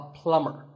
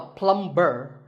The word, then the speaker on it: plumber: you call him a plumber not a plumber the B is silent so plumber in fact in many words when you have the letter combination M B the B is silent if I had a